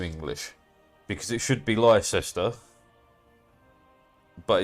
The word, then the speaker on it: Leicester: Why Leicester? Why not pronounced like Leicester? No, Leicester. Because there's an E.